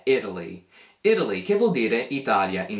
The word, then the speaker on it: Italy: Italia in italiano e noi americani tipicamente pronunciamo questa parola come se non fosse una t ma invece una d in questa parola quindi si pronuncia proprio come Italy Italy così Italy poi